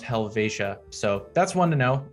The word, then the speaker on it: Helvetia: like helvidia or uh helvetia uh but it's pronounced helvetia so that's one to know um as well